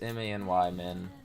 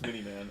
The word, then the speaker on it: Many Man: No, it's M-A-N-Y, man. Many Man. Say it wrong. I swear it's Mini Man.